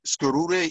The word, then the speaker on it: Skarure: We're actually, there's different Tuscarora communities, and Skarure is how you say Tuscarora in the Iroquois language, in the Tuscarora language is Skarure.